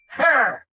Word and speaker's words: He: Wait! Her! Sounds like her! Correct, and coincidentally, that's also how you say my name, He.